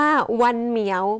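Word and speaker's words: Văn Miếu: ได้ แก่ วิหาร วรรณกรรม หรือ ว่า ใน ภาษา ภาษา เวียดนาม นะ คะ เขา จะ ออก เสียง ว่า วัน เหมียว ไม่ ใช่ วัน ของ แมว นะ คะ แต่ เป็น ภาษา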